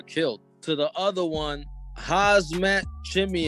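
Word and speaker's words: Khamzat Chimaev: to the other one hazmat chimney have you actually said it correctly you don't pronounce the k i i don't want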